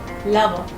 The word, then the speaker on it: lover: Pet lover. Lover, not lover. The R at the end remains silent. We pronounce it as lover.